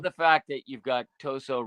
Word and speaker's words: Tosot: some different interpretations about how to pronounce that name I I called it toot for a long time until I heard you say it and I was like I'm going to go with what Jerry says hey I did it